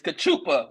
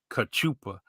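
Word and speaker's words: cachupa: to me i'm trying to tell them look it's kachoopa like if people from cape verde who cobble bird are telling you kachoopa that's what it is yeah manchupa guess what i i was saying it wrong for a long time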